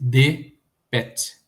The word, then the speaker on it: dpt: Então, por exemplo, a palavra barco, né, DPT, torna-se DPET.